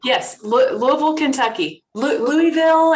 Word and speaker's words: Louisville: right yes louisville kentucky louisville if you're not from there if you're from there it's louisville hi everybody she's a she's